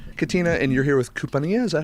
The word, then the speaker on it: Kumpania: Katina, and you're here with KUMPANIA, is that how you say it? Yes, Compania.